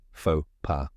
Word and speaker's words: faux pas: down step by step the first part is fo which rhymes with go and the second part is p which sounds like P in Papa now say it with me fa PA one more time FAA